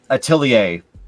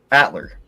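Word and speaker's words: Atelier: the spelling of it, I understand why they pronounce it the way they do. And that is the Atilier series or as people like to call it Atler.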